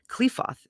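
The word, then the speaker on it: Qliphoth: up and give trouble the dragon of the cliffhoth raises his multiple heads or the dragon of the destruction raises his multiple heads and okay so clefoth is spelled q-l-i-p-h-o-t-h in consequence practical occult work is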